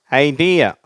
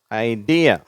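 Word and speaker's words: idea: குப்பை கோலங்கள் அது அடுத்தது ஐடியா ஐடியா சரியா இரண்டாவது syllable stress ஐடியா next imagination சரியா இமேஜினேஷன்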